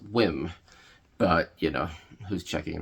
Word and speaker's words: WiiM: recent video called the weim mini it's actually pronounced whim but you know who's checking right so this is the whim mini high reses audio